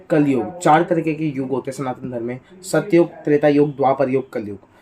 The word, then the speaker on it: कलियुग: युग कलयुग तो कलयुग अगर हम देखें तो कलयुग हम ऐसे बोलते हैं लेकिन असलियत में भी कलियों की बोलता हूं लेकिन इसे अच्छे से प्रोनाउंस ऐसे करते हैं कलियुग कलयुग वो हम जल्दी जल्दी बोल कर कलयुग हो गया और ना है कलियुग तो देखो कलियुग का